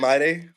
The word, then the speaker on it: Olamide: Olamide.